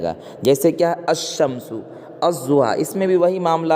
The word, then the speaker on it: الضحیٰ: اور لام آیا مگر لام کا تلفظ نہیں ہوگا، لام کے بعد جو حرف ہے نا ضاد، اس پر کیا ہے، تشدید ہے، کیا ہے، تشدید ہے، وہ استعمال میں آئے گا۔ جیسے الضحیٰ، الرحیم وغیرہ۔ بات سمجھ میں آ گئی؟